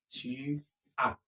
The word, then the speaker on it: tu as: Tu as. The S is silent.